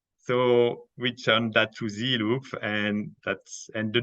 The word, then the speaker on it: Zeloop: close the loop so we turned that to z loop and that's and the name was available and